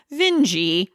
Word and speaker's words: Vinge: American English is actually her last name is pronounced vingi V and we found that out too late for the episode um so vinge isn't anything gross in British is it no